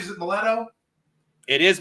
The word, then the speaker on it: Maletto: Am I pronouncing it right? Is it Maletto? It is Maletto.